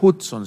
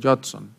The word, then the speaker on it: Judson: Adoniram Hudson se escribe, pero creo que se pronuncia Judson.